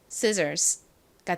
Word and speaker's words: scissors: s n 소리가 나죠 그래서 읽어 보면 scissors scissors가 됩니다 자 발음 따라해 보세요 scissors 한 번 더 해